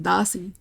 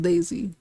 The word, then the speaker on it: Dasi: Like, it's pronounced Dasi. So I'm gonna say Dasi. You know, just to be respectful. Because, I mean, I know that's her name now. Yeah, I didn't know. It wasn't even pronounced Daisy.